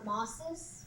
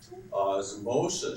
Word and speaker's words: osmosis: you're close anybody anybody get any closer Brandon oses well you're ear Clos too Emily osmosis osmosis she sounded it osmosis all right osmosis is the movement of water